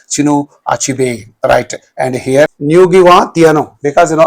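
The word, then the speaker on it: Ngũgĩ wa: Achib writer and here Nugiwa because you know I have practiced the pronunciation of this name because you know on the internet I have searched for the name of this writer and it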